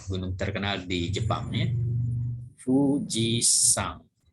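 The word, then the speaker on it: 富士山: Fujisan. Jadi kalau di Jepang sini namanya ini dibacanya sang. Tidak dibaca yama ya. Jadi tidak dibaca Fujiyama. Orang Jepang membacanya Fujisan.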